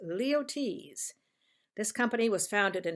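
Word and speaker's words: Luyties: tell you how to pronounce it and it's pronounced leo t's this company was founded in 1853 but perfumes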